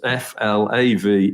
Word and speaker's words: Flavel: pronunciation of the letters f l a v e l sometimes with an extra L is Flav as in Naval so there we have